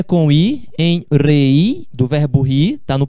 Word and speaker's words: reí: Me reí mucho. Tá vendo? Ó, reí. São duas sílabas.